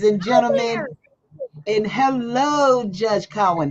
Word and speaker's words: Cowan: But so, please welcome Judge Cohen. How are you? And am I pronouncing your last name correct? It's Cowen. Cowen. Okay.